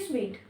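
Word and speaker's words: suite: इसको कई बच्चे सूट बोलते हैं जो कि गलत है। इसकी जो करेक्ट प्रोनाउंसिएशन है वो होती है स्वीट, और इसका भी स्वीट है।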